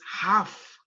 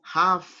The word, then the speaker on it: half: of this word is half you do not pronounce the letter l so it's half an hour and right